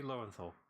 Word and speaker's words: Lowenthal: It's pronounced Lowenthal, but whatever. Sorry, mispronunciation pet peeve. Like, is it not the phenomenon of what the It's Yuri Lowenthal. Sorry. Yeah, it kind of, since his name is kind of like German based, that's why I tried pronouncing him more German.